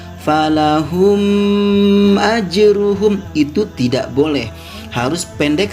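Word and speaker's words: فَلَهُمْ أَجْرُهُمْ: Seperti contoh lafad falahum ajruhum. Nah, di situ ada mim mati bertemu dengan huruf alif. Tidak boleh kita membacanya panjang seperti ini. Falahum ajruhum, itu tidak boleh.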